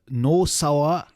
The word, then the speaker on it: Nosawa: I heard the same story about Nozawa Rongai. Yeah? He was supposed to be Nosawa, or Yeah. Well, no, Z is fine, but in Mexico, Z you don't pronounce it, so it became S instead of Nozawa.